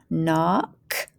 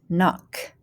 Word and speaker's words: knock: out first line is silent k words so we don't hear the k remember it's silent so it's just new